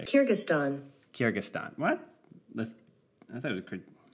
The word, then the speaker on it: Kyrgyzstan: land of nomads looks at the country of karjikistan i hope i'm saying that right man i'm bad at pronouncing things what what does google say kyrgyzstan kyrgyzstan what let's i thought kyrgyzstan okay kyrgyzstan